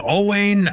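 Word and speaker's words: Owain: And our birthday list includes a person named Owane Yman. Maybe it's Owen pronounced. So, it's O W A I N. Owen or Oane Yman, 47, played Wayne Riggsby on the Mentalist and Benedict Arnold on AMC's Turn.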